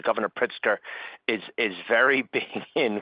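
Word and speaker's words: Pritzker: uh seems like uh I apologize if I mispronounced names. Governor Pritsker is is very big in quantum computing.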